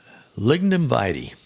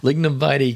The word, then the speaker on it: Lignum Vitae: Lignum Vitae. I said it right. Janelle will be so proud of me. Lignum Vitae Key Botanical State Park, Isla Morada.